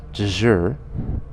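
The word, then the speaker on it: dšr: And the Egyptian word is pronounced deshur.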